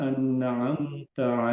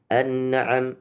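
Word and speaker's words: أنعمت: Sirathalladzina anamta alaihim. Hati-hati annnya jangan sampai kepantul. Anam. Annaam. Nah, itu masih terpantul. Tapi bacanya anamta.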